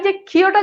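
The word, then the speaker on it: যক্ষ্মা: এখন আমরা এই জিনিসটাই পড়ছি যে যুক্ত ব্যঞ্জনের সাথে মফালা যুক্ত হলে সেটার কোনো উচ্চারণ হয় না। যেমন দেখেন সূক্ষ্ম, মফালা কিন্তু নাই। আবার দেখেন যক্ষা, এখানে কিন্তু আর মফালা নাই।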